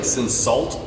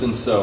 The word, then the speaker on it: Cinsault: So it looks like Cinsault, but this is, it's pronounced Cinsault or Cinsault, from Lost Draw Vineyards, and that's in Brownfield, Texas, about 30 minutes south of Lubbock.